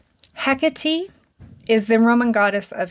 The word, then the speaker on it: Hecate: bring him back Mighty Hecate make it right they're actually mispronouncing the name of the Goddess they are calling on hecky is the Roman goddess